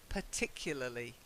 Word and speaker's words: particularly: okay the next one it's not part I know we say a part part of this part of that but it's per particularly particularly try it particularly very good then